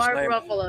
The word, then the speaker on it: Mark Ruffalo: What What will Mark Ruffalo or he pronounces his name? Mark Ruffalo.